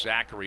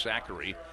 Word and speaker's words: Zakir: It is pronounced Zachary. It looks like Zakir, but it's Zachary.